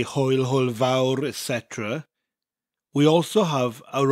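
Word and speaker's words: fawr: of maurer now Hoyle vowel the vowel bit is pronounced like the English word vow but with that little bit of a rolling R at the end of it that motorbike sound that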